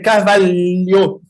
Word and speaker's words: Carvalho: Gabriel Dias de Carvalho, ça se prononce comme ça, Carvalho, hein? Oui, c'est presque ça, c'est Carvalho.